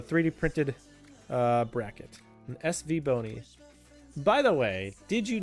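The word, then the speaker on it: SVBony: with a 3D printed uh bracket, an SV bony. By the way, did you know that apparently The company name for SV Bony is actually supposed to be pronounced like Siway Bony.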